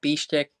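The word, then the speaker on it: Pištěk: Is that how you say it? Pishtek? Yeah, Pishtek, exactly. Pishtek.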